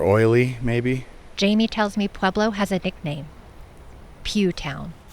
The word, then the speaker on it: Pueblo: So a lot of people pronounce Pueblo incorrectly. They say Pueblo.